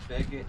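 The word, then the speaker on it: Begich: I keep pronouncing everything wrong. Frank, how is it called? Begitch.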